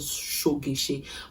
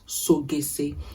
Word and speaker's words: Sogese: It is called Shogeshe. But the actual pronunciation is Sogese.